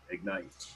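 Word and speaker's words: Egnyte: to hear your input just so you know that's spelled e-g-n-y-t-e ignite and you brought up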